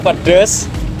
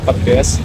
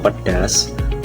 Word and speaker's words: pedas: Teman-teman, pengucapan kata pedas itu merupakan kesalahan kata fonologi. Jenis kesalahan fonologi? Substitusi vokal. Penjelasan pada kata baku pedas. Vokal A pada suku kata kedua mengalami perubahan menjadi E sehingga diusapkan pedes.